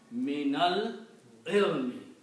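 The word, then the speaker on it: مِنَ الْعِلْمِ: So what you do, you take this guy here and you change into a fatha for pronunciation. So now you pronounce me, nal, ilmi. Minal ilmi. From the knowledge.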